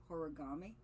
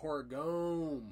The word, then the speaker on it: Horigome: Am I saying it right? Horigami? Oh, Horigome. Yeah. Horigome. He was in first place.